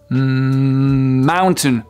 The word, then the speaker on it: mountain: n'allez pas pouvoir passer votre message trè mot Mountain Mountain qui est très différent du de la manière dont il s'écrit Mountain si vous dites Moon mounountain ça